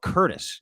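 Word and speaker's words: Courtice: but then it goes like Pickering Ajax ashaa Curtis if you will that's right and Curtis isn't spelled like Curtis's name it's like CTI it's most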